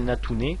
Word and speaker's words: Natouner: Donc moi, c'est Natune. Si vous voyez pas, ça se prononce N-A-T-O-U-N-E-R.